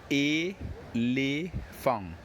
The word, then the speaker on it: éléphant: But here, the only difference is that when pronouncing the word elephant in French, you don't pronounce the T at the end. And the 2 E's, which you see here, will be pronounced E-le.